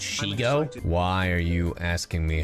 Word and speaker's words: Shego: It's Shego, like Diego.